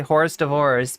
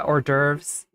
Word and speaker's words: hors d'oeuvres: I know Sasha G thinks I'm gonna say horse divorce, but yeah, hors d'oeuvres.